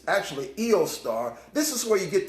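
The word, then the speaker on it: Eostre: It's actually Eostar. This is where you get the name Easter from. This is Easter here. It's originally in the German language, it would be pronounced Eostar.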